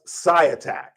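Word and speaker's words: Świątek: Uh beat ega and it's pronounced sci attack. Scat. The w is silent.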